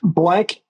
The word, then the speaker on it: Blanc: says it a different way you can say blank BL I'll say I don't care okay how do you pronounce it though blank right but then I get the hey does